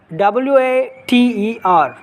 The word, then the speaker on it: water: If you ask that question, see, WATER. So, the T is between vowel A and E.